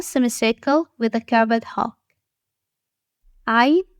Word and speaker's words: ع: Ayn has no dots and comes from the middle section of the throat. It is not a vowel, so avoid pronouncing it as e, u, or e sounds. It is a unique Arabic sound.